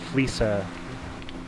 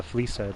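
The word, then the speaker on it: Fleeca: You know, I've heard people say that the Fleesa, I said it wrong before, it's the Fleesa job.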